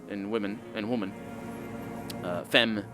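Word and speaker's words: femme: women and women uh fem can be can mean women as well as woman it's just it's pronounced the same the plural and the and the singular because that's how french works lovely language but that's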